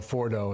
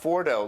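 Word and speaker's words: Fordow: Yeah, Mike Pompeo mentioned this area called Fordo. It's spelled F-O-R-D-O-W.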